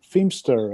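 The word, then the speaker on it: Phimister: h uh i-m-i-s-t-e-r and of course because it's the ph is then becomes a an f sound you get femster and uh and the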